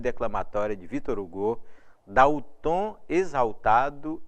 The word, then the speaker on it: Hugo: homenagem ao Victor Hugo o Victor Hugo na pronúncia francesa portanto item 3 verdadeiro